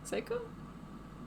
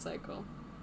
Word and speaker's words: Seiko: Seiko. Yeah, Seyo, not psycho. It's not spelled with an A.